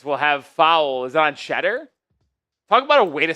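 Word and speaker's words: Tshetter: This will have foul is on Shedder? Talk about a way to spell Shedder, by the way. T S H E T T E R. It's European, but it's pronounced Shedder.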